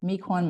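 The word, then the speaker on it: Miquon: the older boys men now saying that yes spell it again m i q u o n math Meek one math okay and it and it uses Cuisine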